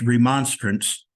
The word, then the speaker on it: Remonstrance: And we spoke about the Grand, and I have been pronouncing it wrong. It's Remonstrance, Grand Remonstrance.